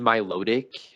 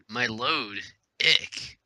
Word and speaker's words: Milotic: I mean, Milotic, whatever you pronounce it as. Milotic? What the freak? Milotic. My load. Ick. Some people pronounce it without the T.